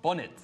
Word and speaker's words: bonnet: 우리 본넷이라는 발음은 이제 일본식 발음이라서 하면 안 되고 본넷이 영국식 발음 뭐죠? 영국에서 bonnet. 그럼 해볼까요?